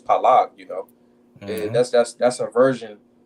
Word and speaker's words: Peleg: That's why when we read this right here, it says Peleg, but if you said in Hebrew it was Palag, you know.